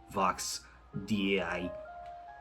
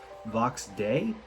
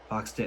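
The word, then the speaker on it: Vox Dei: I absolutely love Vox DI. That's what I'm gonna call it. I don't know how to pronounce it. I'm looking up how to pronounce Vox DI. Vox Day? Why do they just call it Day? Oh, it's the Latin word for voice of God. Oh, it's Vox Day.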